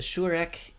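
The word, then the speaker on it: שׁוּרֶק: The shurek is both the short and the long U, pronounced as the U in flute.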